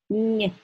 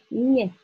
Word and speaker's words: мне: Мне. You see what happened? I softened n. Nie. So the letter is silent, it just affects the consonant before.